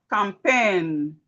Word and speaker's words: campaign: We have campaign. The A and I says A.